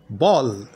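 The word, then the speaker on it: ball: এর উচ্চারণটা হবে অ তাহলে বি এল এল বল সি এ এল এল কল এর উচ্চারণ কিন্তু অফ এ এল এল ফল এইচ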